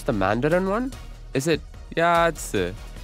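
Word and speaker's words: 鸭子: Yazi is pronounced with a first tone. In Mandarin, there are four tones, which are essential to distinguish the meaning of words. The first tone is a high, level tone.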